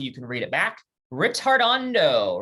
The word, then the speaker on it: ritardando: can read it back ritardando remember retardando that's how we're going to pronounce it is an italian word that means to gradually